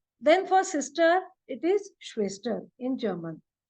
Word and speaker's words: Schwester: Then for sister, it is Schwester in German. So again, whenever at the beginning of the word SCH, whenever it comes, it is pronounced as sh. Okay, so that is clear.